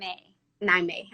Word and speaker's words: Niamey: name Tunisia okay Tunisia mm-hmm how do you pronounce your name I'm a nine me okay I want a first thank you for